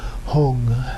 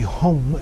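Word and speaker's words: hūṃ: Hong is the syllable of the three kayas, the root syllable ha, vowel u, and then the nasalization of that. Hong. In Sanskrit, it would be hum, H-U-M, but in Tibetan they changed the end to an ng sound.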